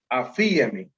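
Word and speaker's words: ἀφίημι: Y el segundo, que es afiemi, como si llevara una tilde en la i, ¿no?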